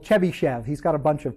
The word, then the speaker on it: Chebyshev: markov's inequality uh the next one is called chebyshev's inequality this is the most famous of these